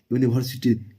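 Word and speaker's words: university: यूनिवर्सिटी भले first letter के भवेल है, लेकिन इसका उच्चारण जो हो रहा है ना, यूनिवर्सिटी, यूनिवर्सिटी, इसका उच्चारण जो हो रहा है कह ग से हो रहा है, व्यंजन वर्ण से हो रहा है, इसलिए यहाँ पे क्या लगेगा?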